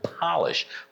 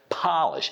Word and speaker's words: polish: So there are two unvoiced consonant sounds in this word. The first V, first P sound is unvoiced consonant sound, and the last sh sound is also unvoiced consonant sound. So both times you have to push a lot of it out.